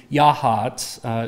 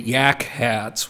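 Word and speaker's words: Yachats: from Florence up to Yahat. It took me a while to learn how to pronounce that. It is not actually Yak Hats, which is what it looks like.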